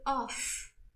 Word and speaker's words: off: How do I pronounce it? I say off.